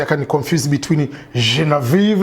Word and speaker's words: Genevieve: a proper way well what i call myself and what most um people call me is genevieve yes but french-wise it's pronounced jean-viv oh wow man i